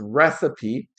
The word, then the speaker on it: recipe: So the pronunciation is recipe, and this is the ingredients and steps to make a certain dish.